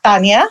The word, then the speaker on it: Tania: So from that moment on, I realized, no, I'm going to embrace Tania, the way it's pronounced, the way that you say it, the way it's meant to be, the way my parents gave me the name, and really move forward with that.